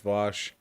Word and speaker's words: Vaush: Oh yeah, I'm Vosh, spelled Vosh, pronounced Vosh, and don't view my